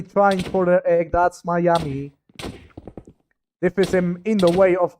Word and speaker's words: MmIiAaMmIi: forgotten nerds with poxy pandy, x8641, xit, and mammly. Wait, I've been pronouncing that wrong. It's actually Miami. All right. How How haven't I noticed that? But their name is actually pronounced Miami, so I I've been saying it wrong all the time.